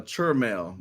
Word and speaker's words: Chell: pronouncing your name correctly yes it's uh CHL My grandmother used it's like church mail he's always living God